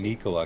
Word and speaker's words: Nikola: I got to start saying Nikola because that's actually how it's pronounced.